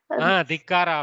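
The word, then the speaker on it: ಧಿಕ್ಕಾರ: Dikkara of Kannada. Okay. Like dikkara. Dikkara. Okay. Actually, kara is added to mean dhik. Pronunciation is dikkara.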